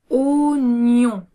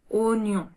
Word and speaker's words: oignon: Oignon. Oignon. Ensuite, le G et le N donnent le son N.